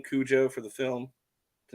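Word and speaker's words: Koujo: in charge of it, he had a name Cujo. That's sort of how you pronounced it, but he spelled it with a K-O-U-J something.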